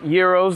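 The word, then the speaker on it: gyros: euros that is pronounced euros the g is silent sounds like hero with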